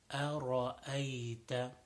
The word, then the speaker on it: أرأيت: So make sure the ra is full mouth. أرأيت.